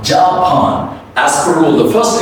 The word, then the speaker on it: Japan: The first A is reduced. The next A has a gliding sound, but at the same time, we have to stretch it. So it's become like Japan.